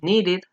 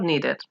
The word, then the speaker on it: needed: pronunciar, en el pasado, se va a pronunciar las dos letras, el ed. Por ejemplo, want, en pasado sería wanted, or wanted, both are correct. Los dos son correctos. Need sería needed, or needed.